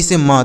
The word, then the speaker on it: some: कैसे, SOME, तो यस से श पढ़ेंगे, ओ का उच्चारण आ की ध्वनि के रूप में आ, उसके बाद ME से म, तो इसे सम पढ़ेंगे, इसे सो में नहीं पढ़ना है, सम पढ़ना है।